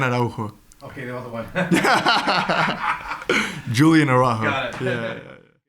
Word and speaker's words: Julián: Can you just give us your exact pronunciation of your name, please? Spanish or English? Whatever you prefer to be called. Julián Araujo. Okay, the other one. Julián Araujo.